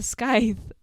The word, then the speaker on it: scythe: bit, she takes a scythe. Is that how you pronounce it? Scythe, I think. Scythe. Okay. Unnecessary letters again.